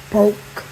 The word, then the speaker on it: poke: and it's pronounced poke it's p o k e just like you want to poke something so that is basically